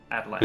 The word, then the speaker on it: Atlanta: was Atlanta, and so it's Atlanta now. And there's no T's in the entire word. Probably. Yeah. Just like that soft D, Atlanta.